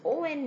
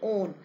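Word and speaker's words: -one: Secondary suffix is O N E, on. It is pronounced as on.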